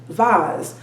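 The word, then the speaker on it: devas: astrology and we have vas which are benevolent gods this pronoun um it's spelled d-e-v-a-s but it's uh pronounced device so we have the asuras and the vas basically demons and the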